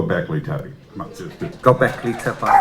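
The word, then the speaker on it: Göbekli Tepe: Come on, just Go Beckley Tubby. It's not how the Turkish people pronounce it. It's how I pronounce it in London.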